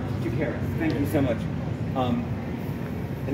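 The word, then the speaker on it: Chakiris: George, the one you mispronounced. George Takaris. Yes, I did it right. Is that right? Takaris.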